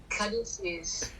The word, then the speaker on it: caduceus: How do you pronounce that? Caduceus.